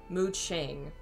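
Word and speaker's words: Mu Qing: the okay yeah okay it is mooching brazil came up first apparently muching so i guess cues make like a th sound okay to have another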